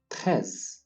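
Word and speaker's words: treize: 13. Once again, 13. Whenever we have an E followed by an I in the French language, we pronounce it as E. Once again, E. And so we say 13.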